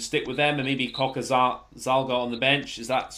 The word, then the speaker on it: Cokanasiga: think he should stick with them and maybe Coca Zalga on the bench. Is that how you pronounce his name? Cokanasiga.